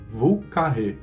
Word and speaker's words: Vieux Carré: mais famoso de New Orleans, ele tem essa pronúncia própria, Vieux Carré.